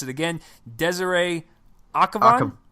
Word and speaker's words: Akhavan: Now, this one is directed by, Joel's going to help me if I mispronounce it again, Desiree Akhavan? Akhavan, yes.